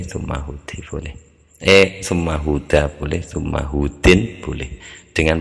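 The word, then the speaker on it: هود: Ini hudu ini hadza hudu gitu mestinya huda ngarokatinya. Jadi tumma huda gitu dijadikan munsarif bacanya. Kalau boleh dibaca hudin boleh tapi harus meniatkan ada kata surah di depannya.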